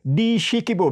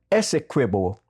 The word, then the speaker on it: Essequibo: Dishikibo, because of the length of these rivers. That has been distorted from Dishikibo to Essequibo because of the problem of the pronunciation. So it means walk with your fireside.